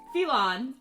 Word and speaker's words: Phelon: The continent you guys are on Yes, is Phelon. Phelon. Oh shit. Spelled Phelon. like felon. It's Elvish in part. It's partially Elvish in etymology. It is fuckers. It spelled like felon. Is it Elon. It's Phillon.